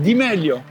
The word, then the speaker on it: Di Meglio: On est d'accord que ça se prononce à l'italienne. C'est Mike Di Meglio.